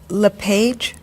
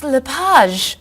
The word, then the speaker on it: Lapage: just a few minutes is your last name pronounced LePage it's Lapage actually oh that's beautiful thank you now is it MS Lapage or mrs.